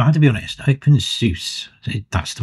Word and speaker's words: openSUSE: Open Seuss, that's the right word to pronounce it.